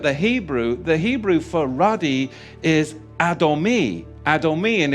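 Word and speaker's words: אדמוני: Because when you look at the Hebrew for ruddy is Adomi. Adomi, and it's spelled Aleph, Dalet, Mem, Nun, Yod.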